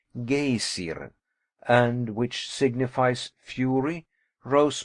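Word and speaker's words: Geysir: high above the waters the gazer a word the icelanders pronounce gaysiren and which signifies fury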